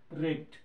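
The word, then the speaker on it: wreck: सो the correct answer question number C is question number six इज़ रेक्ट यहां पर W silent है।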